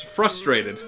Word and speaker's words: frustrated: One thing that really frustrates me is people who mispronounce frustrated, or frustrating. Because it's surprisingly common, as it turns out. A lot of people forget the R in frustrated.